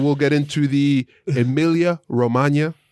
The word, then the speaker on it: Romagna: We'll talk about a little bit of news today, and we'll get into the Emilia Romagna. You got to say it like lasagna.